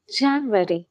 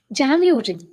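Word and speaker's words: January: Okay, the first one இஸ் ஜான்வரி. ஜான்வரின்னு தான் சொல்லுவோம், ஆனால் அது கரெக்டாக ஜான்யூரி. ஓகே, ஜான்யூரி. ஓகே, அந்த யூ சவுண்ட் வரலாம். யூ ரி, ஜான்யூரி.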